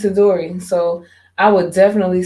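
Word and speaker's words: Itadori: a dory no i keep saying his freaking name wrong does that say it right yeah it's a dory so i would definitely say that this is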